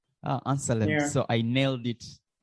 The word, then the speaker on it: Anselem: So it's Anselem. Anselem.